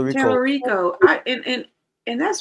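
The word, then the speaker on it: Talarico: Anyway, James Telico. James Telico. Telerico.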